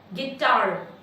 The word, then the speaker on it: guitar: गिटार word में tar is more loud than gi. Guitar louder. Tar is louder than gi. So that makes tar as a strong syllable and gi as a weak syllable.